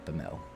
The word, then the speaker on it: Bemele: Bemele. So it's three syllables.